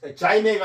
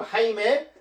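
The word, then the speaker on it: Jaime: 아 아퀴 아레 아레라는 그런 요거 이제제 발음을 스페인어로는 H 발음으로 발음합니다. 이거 자이메가 아니고 하이메 게바라 아큐레라는 그 그런 박사가요.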